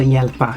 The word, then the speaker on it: hjälpa: So hjälpa, just ignore the first letter there.